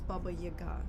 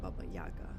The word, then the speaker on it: Baba Yaga: Wick is Baba Yaga but it's Baba Yaga not Baba Yaga Baba like the Russians have like a whole thing about pronunciation and where you put the it's called udya in Russian but it's like the the punch what syllable the emphasis on which syllable.